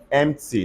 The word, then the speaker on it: empty: cupboard r-a-s-p-b-e-r-r-y say raspberry what are the example empty not empathy say empty which other example can